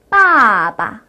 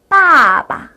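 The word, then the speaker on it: 爸爸: 여동생이라는 뜻인데요 메이메 메이메이 자 마지막 아빠라는 단어입니다 빠바 빠바 이렇게 다시 한번 연습하고 나니까 경성 뒤에 있는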